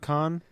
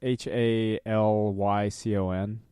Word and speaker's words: Halcyon: Well, that's fair because I was apparently mispronouncing it. Somebody called me out on it. Mm. They were like, Halicon? yeah, it's Halycon.